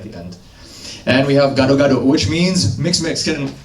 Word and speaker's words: gado-gado: end and we have gado-gado which means mixed mexican you guys say got a Gardo rato Gardo it's probably our best